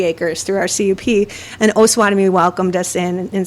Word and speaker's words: Osawatomie: And it only took me 4.5 years to learn how to say Osawatomie properly. It is not Osawatomie.